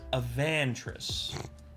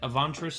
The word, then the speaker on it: Avantris: some Legends of avant not Avant not Avant aant but a vantress yeah I was going to say I heard my my my friends who are British they they pronounced it avantous as well and I